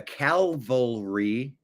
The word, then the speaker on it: cavalry: The cavalry. I'm sorry. The cavalry. Why did I add an extra? The cav cavalry. Like cavaliers. I guess it's misspelled is calalry. That's why I said it wrong.